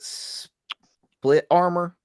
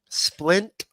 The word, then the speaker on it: splint: How you pronounce it? Split armor. Splint.